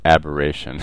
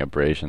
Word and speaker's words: aberration: no chromatic aberration and I pronounced this incorrectly in the last video so um let me take this chance to say it's chromatic aberration and I'm so used to saying abrasion that I can't get it